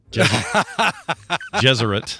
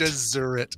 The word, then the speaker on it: Gesserit: Gesserit. Not Jesuit. Gesserit.